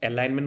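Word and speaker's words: alignment: যেটা সিলেবাস করা চাইছিলাম এলাইনমেন্ট বলে শব্দটা আছে এল আই জি এন এলাইনমেন্ট Jitu Geneva সাইলেন্টস না এলাইনমেন্ট বলি কয় এলাইনমেন্ট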